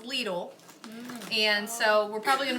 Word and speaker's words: Lidl: I found out because it's actually a German company then it's pronounced Lidl and so we're probably